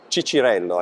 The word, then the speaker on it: Cicirello: So, clearly you have a surname, Cicirello, I would Yes. say, but I don't know how you pronounce That's right, it's exactly perfect.